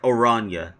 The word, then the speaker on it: Oranja: Oranja is pronounced like Oranja. Oh, Oranja.